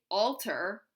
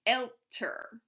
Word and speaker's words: älter: So to say older, we can't just say alter. We have to umlaut that A and say älter.